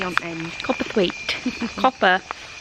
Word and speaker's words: Copperthwaite: Copperthwaite. Copperthwaite. It's not hard, it's exactly how you say it.